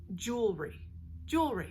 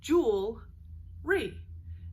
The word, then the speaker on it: jewelry: They're also known as jewels, and you pronounce it sort of phonetically like J-U-L-E, jewel, but it's spelled J-E-W-E-L, so like jewel, but we pronounce it jewel.